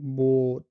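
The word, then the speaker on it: Boot: ও এটা জাস্ট একটু long, like বোট, like বোট, এখানে জাস্ট একটু টান হবে ও, সো বোট।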